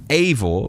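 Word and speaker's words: avó: And unexpectedly, Avo, pronounced Avor, means grandmother.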